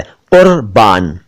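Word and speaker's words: क़ुर्बान: यह शब्द है कुर्बान, कुर्बान नहीं है, क के नीचे नुक्ता है, डॉट है, बिंदु है, कुर्बान।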